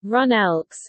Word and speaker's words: GroenLinks: Groenlinks, Dutch pronunciation, Runelks, English, GreenLeft, West Frisian, GreenLinks, GL, is a green political party in the Netherlands.